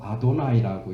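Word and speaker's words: Adonai: 그래서 쓰기는 이렇게 쓰고 아도나이라고 읽어요. 읽기를.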